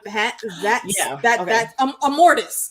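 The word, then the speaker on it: Immortus: hat that's that that's am mortise am mortise sorry I was saying the name wrong am mortise that's his name okay yeah because I'm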